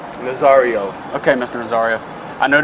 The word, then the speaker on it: Nazario: Nazario.